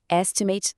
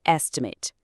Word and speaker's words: estimate: Como verbo, a ação de calcular, a gente diz to estimate cost. O som tá lá no final. Mas quando é um substantivo, a coisa que é estimativa, a pronúncia muda para a rough estimate.